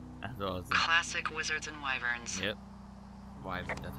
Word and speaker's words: wyvern: Classic wizards and wyverns.